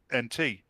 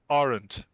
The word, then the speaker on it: aunt: Americans pronounce it different to British people. I mean, if you spell it the British way of saying it phonetically, it'd be AHNT. Right. Whereas Americans say R, then add NT. Aren't. There's no R in there. I'm heavily exaggerating it there to get your point across, but it's not wrong. It's just different.